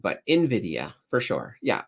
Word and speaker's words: Nvidia: let's see I think Jensen hang says it's pronounced Nvidia well there we go yeah I what did I say Nvidia I I don't know what I said but Nvidia for sure yeah it's definitely you know and